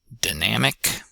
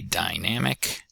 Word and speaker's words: dynamic: And last but not least, unstressed initial syllable, nam and ic, dynamic. Some folks might say dynamic, but dynamic, perfectly acceptable way to say that word, say in a long, dynamic sentence.